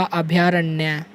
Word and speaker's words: अभयारण्य: बन जाते हैं अभयारण्य कई बार कुछ बच्चे इसको ऐसे भी लिख देते हैं आधा भैंस नहीं है ये गलत तरीका है और सही उच्चारण है इसका अभयारण्य लिखने का सही तरीका